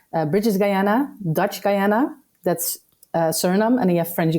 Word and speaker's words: Suriname: Yeah, in English you would say Suriname, I guess, but in the Surinamese language, which is also Dutch, a mix between Dutch and Creole, it's Suriname.